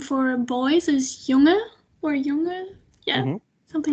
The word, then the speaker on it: jongen: In general, you kind of not really pronounce the N at the end. You can do it to varying degrees, and the more you pronounce it, the more formal your language sounds.